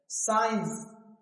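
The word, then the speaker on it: science: क्या है साइलेंट है साइंस तो यहां भी सी क्या है साइलेंट है क्या बोल रहे हो साइंस साइंस मतलब विज्ञान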